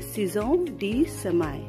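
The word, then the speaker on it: Saison des semailles: इसको हम पढ़ते हैं सिजोन डी समाय, सिजोन डी समाय। इट इज the actual pronunciation.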